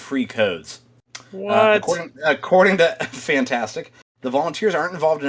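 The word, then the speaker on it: FNtastic: Kotaku is reporting that, I'm going to just pronounce it as the word fantastic, but it's spelled F-N-tastic, which are the developers behind The Day Before, which is the most wishlisted game on Steam.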